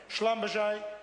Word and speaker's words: Schlumberger: Schlumberger, which, with all due respect, Mr Young didn't quite get the pronunciation right. Schlumberger, Shell, Halliburton's with that well-known international reputation for good faith and ethical conduct.